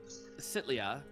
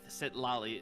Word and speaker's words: Sitlali: And Sitlia, Sitlali, that's right, you pronounced it and I forgot how to pronounce it.